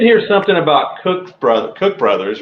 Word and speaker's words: Cook Brothers: ter I have a good friend of mine that calls Cook Brothers Cooks Brothers and it's Well, it's Cook Brothers, not Cooks Brothers, but it's just, you know, and then I guess uh like like Tangi components.